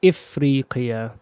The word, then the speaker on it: أفريقيا: أفريقيا. It can also be said إفريقيا. So last time we said إفريقيا. Here we've written أفريقيا.